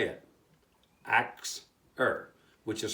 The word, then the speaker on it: Axir: The Phoenicians called the Ashers by the name of, and I'm going to say it, Axir, which is spelled A-X-I-R.